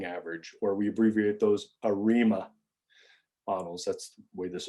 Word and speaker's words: ARIMA: aggressive integrated moving average or we abbreviate those arima models that's the way this is pronounced in arima models we index with p